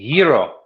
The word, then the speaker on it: gyro: Yeah, I'm definitely going to go with ice cream and gyro.